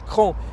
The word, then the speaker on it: Craon: bonjour bienvenue à craon enfin pour ceux qui ne sauraient pas encore ça s'écrit craon mais ça se prononce cran et nous sommes devant